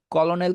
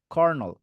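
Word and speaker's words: colonel: ভুল করবেন না সর্ট কলোনেল কে কি বলবেন কর্নল কমফর্টেবল কে কি বলবেন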